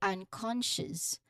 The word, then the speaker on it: unconscious: Well, pronunciation wise, the stress pattern is vital here because the emphasis it falls squarely on the second syllable. Con. So, unconscious. Unconscious. You make it louder and slightly longer than the unstressed on at the beginning and softer sh and you know at the end.